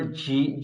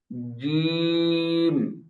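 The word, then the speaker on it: جيم: জি, অনেকে উচ্চারণ করে ঝি, ঝি, ঝি, খেয়াল করেছেন বাতাসের একটা আওয়াজ আসছে, ঝি, এরকম না। জিম, জিম, বুঝতে পেরেছেন? জিম বলেন তো। জিম এই বাতাসের আওয়াজ বের হয়ে যাচ্ছে, জি এরকম না।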